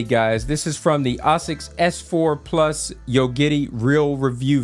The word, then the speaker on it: ASICS: that is that, yes, I usually like to say ASICS because this is the way that the Japanese themselves like to pronounce their own brand. It's a Japanese brand, they named it, and this is how they say it.